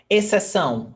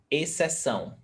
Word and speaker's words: exceção: Exceção, exception. X, C, apart. Exceção. Even though they're only one sound, remember that.